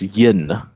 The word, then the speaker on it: yin: Uh or yin and yang if I pronounce it properly in Mandarin.